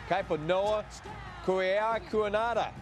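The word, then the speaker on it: Kaipo-Noa Kaheaku-Enhada: Of course, I would love if Staubach was back under center, because Navy's quarterback has 21 letters in his name and pronounces it Kaiponoa Kuiakuanada.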